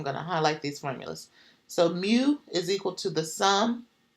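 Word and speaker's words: μ: mu but it's like mu mu so it's pronounced mu and then the second one here for sample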